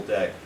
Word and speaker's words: deque: We're adding, we're adding the DEQUE, which is pronounced deck.